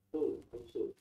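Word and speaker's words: Rousseau: Jacob Rosel ini bacanya ruso ruso Jen Jakub bacanya gimana?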